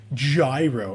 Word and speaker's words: gyro: Gyro. It's pronounced gyro, you fucking weirdos.